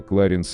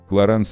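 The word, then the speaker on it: Clarins: Произносится Löwenbräu, в России часто неправильно произносится как Löwenbräu. 48. Кларанс. Самая распространенная версия — это Кларенс или Кларин. Но ни тот, ни другой вариант не верны. Клоранс самый верный из всех возможных вариантов.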